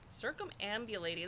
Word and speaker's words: circumambulating: So uh in the book circum circumambulate circumambulating that is how you say that the idea